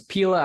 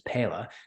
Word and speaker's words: Pela: You know, so Pela, which is the name, that's how you It's Pela and that's how people say it, but actual pronunciation in Spanish is Pela, means peel.